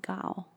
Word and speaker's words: Gaul: you're dumb asses because the a and the u make the sound. It says, you should sell it like you should say it like ball. So it should be like Gal.